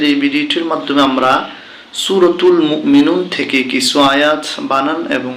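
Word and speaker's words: مؤمنون: বানান করলে হচ্ছে কি মুমিনুনা যখন আমরা এখানে দেখুন থেমে যাব তখন উচ্চারণ হবে মুমিনুন আফলাহাল মুমিনুন মুমিনুন এবার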